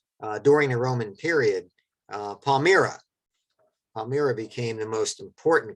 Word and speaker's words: Palmyra: town not too far from harrisburg right uh pronounced palmyra but that becomes the most important caravan city